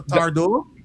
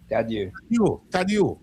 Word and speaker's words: Tadieu: Is it Dr. Tardo? Dr. Tadieu. Tadieu. Yes, Tadieu.